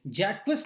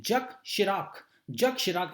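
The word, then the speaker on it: Jacques Chirac: Just a few months after French president, यहां पर अब इनको कैसे पढ़ेंगे, जैक्विस नहीं पढ़ेंगे, चिराग नहीं पढ़ेंगे, इनको पढ़ेंगे जक इसको पढ़ते हैं जक शिराक इसका प्रोनाउंसिएशन होगा. ठीक है ना, ये बहुत ही इंपॉर्टेंट प्रेसिडेंट रहे हैं फ्रांस के.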